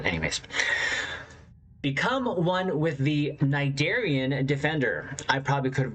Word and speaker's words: Cnidarian: So how do you say it? Cnidarian. Cnidarian. One more time. Cnidarian. Cnidarian. Then why did you have to put the C in there and confuse Triz?